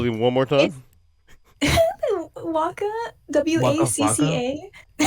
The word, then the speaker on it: WACCA: Have you ever played on a Waka machine? WACCA. WACCA. Spell it one more time. Waka.